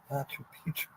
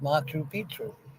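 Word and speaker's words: Machu Picchu: here yay fun fact how do you pronounce matchu Pichu didn't I just pronounce it matchu Pichu I don't know it could be different from what I've heard but I thought it was pronounced Machu Pichu they tried to revive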